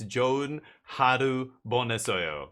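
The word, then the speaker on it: 좋은 하루 보내세요: Finally, one of my friends tells me it's like, okay, if you want to say like have a nice day, it's Joon haru bonesoyo.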